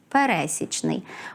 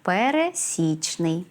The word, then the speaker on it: пересічний: в українській мові слово однак його нерідко наголошують помилково на другому складі пересічний правильний же наголос має стояти на третьому складі пересічний говоріть українською правильно уникайте